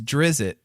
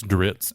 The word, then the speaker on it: Drizzt: course it is yeah and Ritz I've always pronounced it as drizzit and I may not be the only one